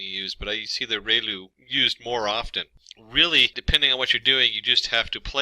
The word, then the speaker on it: ReLU: we have the relu it's pronounced like rey the from the sun and lu like a name so relu function and we have